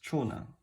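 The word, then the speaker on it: 長男: But combined together, this is pronounced as chonan.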